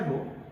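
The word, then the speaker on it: ρ: इसको हम लोग प्रोनाउंस करते हैं बच्चों, इसको हम लोग प्रोनाउंस करते हैं रो से, इसको पढ़ते हैं रो, और इसका नाम क्या हो जाता है बच्चे, रेसिस्टिविटी।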